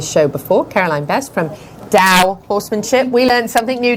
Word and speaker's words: Tao: yeah we learned that t-a-o is pronounced like a d dao horsemanship so carolyn